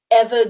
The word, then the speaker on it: Eva: It's like, oh, it's Eva, it's not Eva. I've been saying it wrong this whole time.